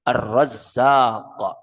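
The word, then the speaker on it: الرزاق: Dan bacanya itu mesti tepat. Itu memakai tasdid arrazzaq.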